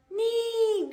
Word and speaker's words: knee: Knee. Great. Knife. Excellent. O. No. Good job. Ought. Not. Super. Ock. Knock. Great. I'd. Night. Fantastic. That's it. So K-N. K is silent.